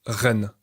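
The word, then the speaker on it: 人: Dans les caractères chinois, le signe se prononce ren et signifie être humain.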